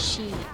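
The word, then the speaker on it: 四: bad in in uh in Japanese it's because it's pronounced the same way as death yeah it's she and like I always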